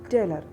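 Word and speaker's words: taler: The next word we are going to learn is teller.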